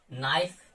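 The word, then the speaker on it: knife: नी, knock, नाइफ।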